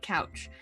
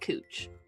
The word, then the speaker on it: Couch: We have a street in Portland that is spelled couch, and you can always tell when someone's out of town because they say it couch, but everyone local calls it cooch.